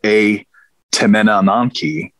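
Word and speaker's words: Etemenanki: E is what precedes this word, but it's pronounced A, which means house or temple. So you have A Temenananki, which again is the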